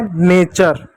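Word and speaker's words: nature: ठीक है, टी यू आर को क्या, टी को क्या चौ पढ़ेंगे, यू यहाँ पर साइलेंट होगा, आर को क्या र पढ़ेंगे, हो जाएगा नेचर, क्या हो जाएगा, नेचर।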